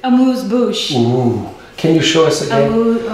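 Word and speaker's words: amuse-bouche: it i like it how do you say it a moose bush can you show us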